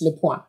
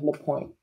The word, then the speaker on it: LePoint: palm ah good question it's the point in english in french it's le pointe but i go by la pointe we're very excited